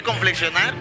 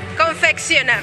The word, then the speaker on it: confeccionar: Se dice conflexionar o ¿cómo se dice? Confeccionar.